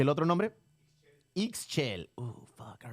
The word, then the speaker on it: Ixchel: Ixchel.